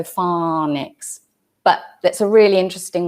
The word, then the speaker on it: phonics: That's F-A-W-N-I-X. And James, I would suspect that that might be an American pronunciation of phonics. Would I be right? Because with British pronunciation, we would say phonics, O, and the AW doesn't usually represent the O sound. It's O, so phonics.